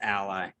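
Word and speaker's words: a11y: the 11 in it is oftentimes pronounced it's pronounced ally but the 11 stands for the 11 letters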